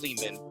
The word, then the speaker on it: Lehman: that's right it's me Ari Lehman rhymes with demon the very first Jason